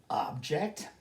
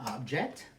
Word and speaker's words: object: same spelling different meaning object a thing this is an object or object meaning to express disagreement I object to that statement object object wound w